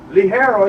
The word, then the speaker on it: Ligero: Ligero is on top of the plant.